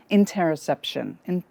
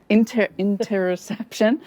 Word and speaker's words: interoception: pleasure, play, presence, and interoception.